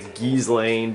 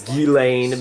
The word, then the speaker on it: Ghislaine: d'Alene or Ghislaine I I always pronounce the Keesling but I guess it's d'Alene Maxwell you know that's that's it you know I've been saying her name wrong for for more years